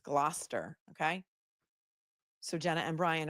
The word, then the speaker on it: Gloucester: guys you guys are on fire today it's gluster okay so Jenna and Brian are from Gloucester